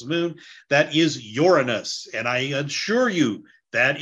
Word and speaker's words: Uranus: That is Uranus, and I assure you, that is how you pronounce the name of that planet.